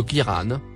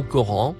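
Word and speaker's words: قرآن: Le Kiran, ou Coran, comme on a pris l'habitude de le prononcer, est donc spécifiquement fait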